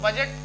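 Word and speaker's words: budget: बाद में जी है तो बजट को बजट ही कहते हैं इस तरीके से डीजे यानी कि डीजे से याद रखेंगे कि जी के पहले डी साइलेंट रहेगा तो ये इसकी एक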